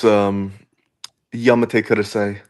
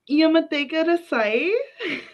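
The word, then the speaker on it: Yamete kudasai: Okay, it's Yamate Kudasai. Yamate Kudasai.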